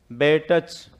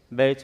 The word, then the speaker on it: batch: बैटच। क्या हो गया? बैटच हो गया ना। लेकिन ये टै गायब हो जाता है, इसको आप क्या बोलते हो? बैच बोलते हो। इसमें क्या साइलेंट हो रहा है? टी।